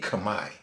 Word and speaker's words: Khmer: greet someone of the Khmer community. Now, again, when people see Cambodian, some may say, oh, the Khmer people. Well, that's the American way of saying it, when it's in actuality Khmer.